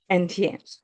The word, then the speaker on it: Etienne: of course, after everything with Etienne, am I pronouncing that right? It's yeah. Um, Etienne.